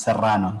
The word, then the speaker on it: Serrano: okay she received that strong r similar to the one in spanish so that that strong r is apparently hard to pronounce to english speakers but your spanish so here yeah my last name is serrano so uh how